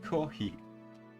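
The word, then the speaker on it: コーヒー: borrowed from another language he pronounced it kohi it sounds similar to the word copy right this is normal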